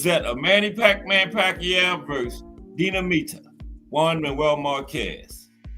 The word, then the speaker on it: Dinamita: I was saying if I was pronouncing that name right, Dinamita. That's it. Yeah, Dina. I had it right the first time. Dinamita.